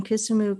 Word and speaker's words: Kisumu: that correct yeah so you you live in kisumu county am i saying that correctly yes we